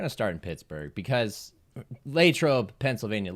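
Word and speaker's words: Latrobe: We're going to start in Pittsburgh because Lrobe, Pennsylvania. Latroe for those who are not familiar, but those who are locals say Lro.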